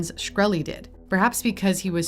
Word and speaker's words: Shkreli: Is it pronounced Shkreli? Yes, sir.